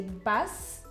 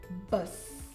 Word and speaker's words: bus: The U is pronounced differently in Afrikaans. So in English, you say bus. In Afrikaans, you say bus.